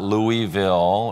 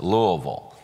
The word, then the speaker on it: Louisville: our city after him so it's not louisville or louisville it's Louisville so it has three syllables and so I want